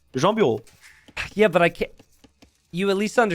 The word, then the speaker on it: Jean Bureau: I think you say it like Jean Bureau, right? I think you said something like that. Well, in French, it's just Jean Bureau.